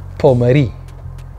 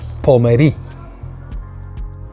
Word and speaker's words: Pommery: Canal duchenne one more time duchenne number nine champion number eight number seven champagne pomeri champagne pomeri number six a tricky one which is one